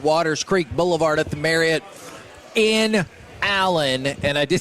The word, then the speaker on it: Marriott: We are live at the Dallas Card Show, 777 Waters Creek Boulevard at the Marriott in Allen.